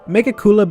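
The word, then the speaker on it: Megicula: know here we are make akula being that it it feels like I'm not supposed to pronounce it like that but someone said that's how you pronounce it so I'm trusting you it just does not sound as good as Mega Sula though I'm just gonna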